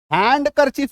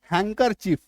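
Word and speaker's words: handkerchief: डी के ई आर सी एच आई एनडी हैंडकरचिफ नहीं हैंकर चिफ ठीक है एस ए एन डी डब्ल्यू आई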